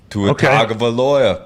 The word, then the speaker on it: Tua Tagovailoa: Tua Tagovailoa, QB, Alabama.